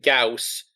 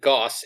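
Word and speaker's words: Gauss: For anyone listening, I'm aware it's pronounced Gaus, but I think Goss is better.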